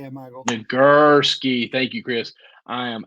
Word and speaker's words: Nagurski: Nagurski.